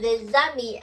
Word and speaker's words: les amis: We're going to link it les amis, and this as we pronounce the les amis here.